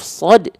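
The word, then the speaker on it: ص: Saya ulang lagi ya. Ya, bismillah. Dia kalau dibaca dengan vokal O adalah huruf yang tebal. Contohnya apa? Contohnya huruf sod ketika dia fathah kan dibacanya bukan sa tapi so.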